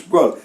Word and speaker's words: poêle: préciser, mais c'est délicieux, tous se prononcent poêle.